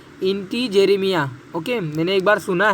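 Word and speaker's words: integerrima: कर्कट श्रृंगी का देखिए पिस्टेचिया, इंटीग्रेमिना, ओके, एंटीग्रेमिना नहीं है, आप प्रोनाउंस करिए इंटीजेरेमिया, ओके।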